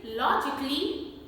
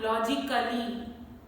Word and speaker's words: logically: In those words, letter A is silent. The correct pronunciation is logically, not logically.